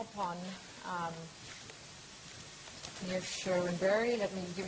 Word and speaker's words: Niamh: So, Niamh, I always mispronounce Irish names. Please forgive me. How do you say Niamh? Niamh. Niamh Sherwin Barry.